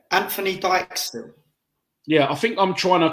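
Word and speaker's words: Dijksteel: Anthony Dijkstill, I think. Yeah, it's got to be. The Dyke is like Virgil van Dijk, isn't it? Anthony Dijkstill.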